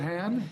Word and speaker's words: Hann: So let's try this, Senator David Hann. Did I get that right? You got it. I keep throwing on that the long A, but no, you got it.